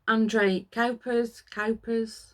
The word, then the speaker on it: André Kuipers: André Kuipers, that's how you pronounce it.